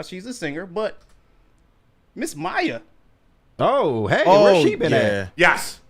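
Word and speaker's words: Mýa: Not MIA. Is it pronounced yeah. Mia? Maya.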